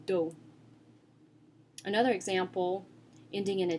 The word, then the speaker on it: dos: So some examples are, for example, the word dos, which means back. Dos. The S is silent, so it's just pronounced with the D and the O. Dos.